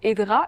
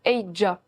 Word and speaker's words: Edra: c'est pas tout à fait Edra, mais plutôt Eidja. Ça s'écrit Edra, mais prononcé avec un J en plus.